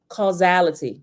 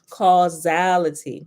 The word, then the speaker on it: causality: Causality. I was looking at the pronunciation. The S be throwing me off sometime, but it's pronounced like a Z. Causality.